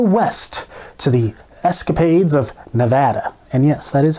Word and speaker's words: Nevada: escape even further west to the escapade of Nevada and yes that is how you pronounce it Nevada not Nevada Nevada get it right people during that Escapade it